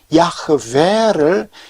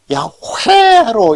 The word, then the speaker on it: 야흐웨: 그래서 왜 우리말 성경의 어떤 성경에서는 야흐웨를 야훼로 이렇게 음력을 했는지 모르겠어요. 야흐에서 음절이 끝나거든.